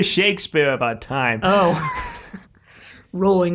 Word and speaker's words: Rowling: Rowling. It's actually Rowling, but I'll never like naturally pronounce it that way. J.K. Rowling. Yeah. Guess it's she's rolling in money.